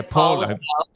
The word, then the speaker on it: Paolo: Yeah, Paulo.